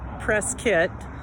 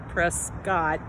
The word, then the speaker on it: Prescott: so i am here in prescott and it's pronounced press kit instead of press god which is how it's spelled i don't know why but prescott so here in prescott this is charlotte hall museum let me just